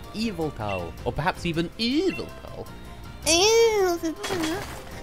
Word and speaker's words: Yveltal: And they pronounce the legendary Pokemon from Pokemon Y as Yveltal. Well, it's Eviltal, or perhaps even Eviltal.